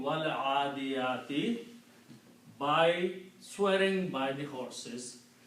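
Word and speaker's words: وَٱلْعَٰدِيَٰتِ: And now when you pronounce, you do not pronounce this alif, just like we just learned, wal kitabi and wallahi. This becomes wal adiyati.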